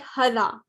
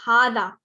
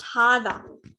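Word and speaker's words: هذا: it we pronounce it hada as in an alif after the ha there's a you in some books there's a small alif on the ha so just remember it's pronounced hada okay but it's written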